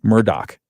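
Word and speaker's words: Murdaugh: fatal shootings of his wife and son is pronounced Alex uh I'm sorry, Alec Murdoch. The uh Yeah, Murdoch.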